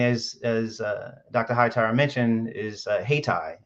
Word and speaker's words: Haytii: Hightower mentioned, is HeyTie. It's spelled Haytii.